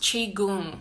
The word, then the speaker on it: Qigong: it's been so healing for me and it's pronounced Qigong but it's actually spelled Qi ji Ong and